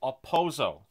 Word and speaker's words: Okposo: to talk about Kyle aoso the K is silent I'm going to apologize